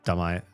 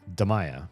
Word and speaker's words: Deaya: My name is Deay Deaya, right? Deaya, I'm pronouncing it right. This guy at the summer camp kept saying dea.